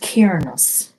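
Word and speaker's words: Cernunnos: So let's move on to our blue heart, which has Cernus, life force. Express your driving passion. Sensual and sexual powers are increased. Connected pan. This always reminds me of pan. It's pronounced Cairnus, also known as Herni,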